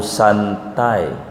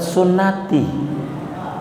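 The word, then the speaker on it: سنتي: An-nikahu santai, padahal sunnati. Sinun tak iya, salah baca. Sunnati, dia baca santai. Itu salah baca.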